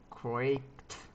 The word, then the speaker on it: cracked: second example is John cracked. Remember that what is the past tense of the verb crack? Crack is a voiceless consonant. In that order is the end of the pronunciation is like a T, cracked, cracked, cracked, cracked.